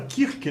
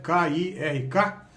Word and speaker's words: Kirk: Em português a gente fala Kirk, né? E a gente pronuncia do jeito que escreve, K-I-R-K. Em inglês eles falam algo mais ou menos como Kirk.